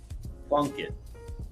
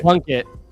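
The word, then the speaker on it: Plunkett: If you have a player who's really tall in basketball, you want him to dunk it. That rhymes with this guy's last name. Plunket. Jim Plunket. plunk it.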